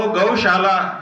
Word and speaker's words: गौशाला: गौ संसद ने अनुभव किया है कि स और श, दंत्य स और तालव्य श, ये दो स हैं, तीन हैं, एक मूर्धन्य भी है। इनका सही उच्चारण न कर पाने के कारण अधिकतर लोग श की जगह स बोलते हैं और स की जगह श बोलते हैं। तो गौशाला जो शब्द है, इस शब्द को गौशाला बोल देते हैं कभी